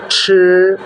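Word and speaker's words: 吃: ছি কথাটি Chinese first টোনে উচ্চারিত হয়, ছি খাওয়া।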